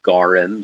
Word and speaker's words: gorm: The word for blue, it's spelled Gorm, but it's pronounced Gorim.